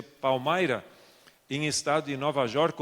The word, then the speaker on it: Palmyra: Então, a primeira vez que eu fui a um lugar que se chama Palmyra, se escreve Palmira, mas se pronuncia Palmyra, em estado de Nova